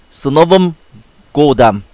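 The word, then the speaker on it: С Новым годом: 단어 마지막에 있는 오는 아와 같이 발음되는 경우도 있습니다. 자, 여러분 따라해 보겠습니다. 스노범 고담.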